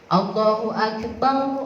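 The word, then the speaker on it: الله أكبر: Tapi Allahu akbar, Allahu akbar, yang bagus begitu ya. Ada yang suka adzan di rumah, di masjid musola ya, itu Allahu akbar, bukan bar.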